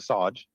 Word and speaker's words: Shahj: think it's fine so I pronounce it Sarge so a bit like Sergeant Sarge why not people